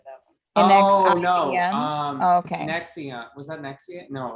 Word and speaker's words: NXIVM: That's Nexium. Yeah. It's pronounced as a U.